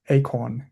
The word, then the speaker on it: AKOrN: Yeah it's pronounced as acorn. It's the same as the like the uh I don't how can I say the the plant plant the acorn.